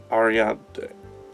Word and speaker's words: Ariadne: And by Ariana, I totally meant to say Ariadne.